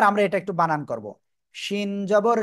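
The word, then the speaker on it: ش: আমরা যে অক্ষরটা শিখবো ওই একই জায়গায় জিহ্বার মধ্যখান থেকে উচ্চারণ হবে কিন্তু এখন শ্বাসা শব্দ করে উচ্চারণ হবে খেয়াল করতে হবে ওকে তিনটা নুক্তা হবে ঠিক আছে শিন তিন আলিফ টান হবে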